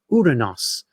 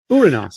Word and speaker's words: Uranus: Hi, I insist on pronouncing everyone's favorite planet as Uranus. I'm sick of the stupid jokes. So lazy. Uranus, the proper Greek way.